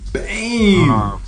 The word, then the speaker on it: Bem: So it's pronounced Bang, like name. Bang. Yeah. Bang. Like, you know, think of name, and I've been friends